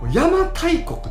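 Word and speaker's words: 邪馬台国: If the same letter was applied to both names, it should be pronounced as Yama "To" koku. Himiko's decendant was called "To" yo but the same letter was pronounced as Yama "Tai" koku.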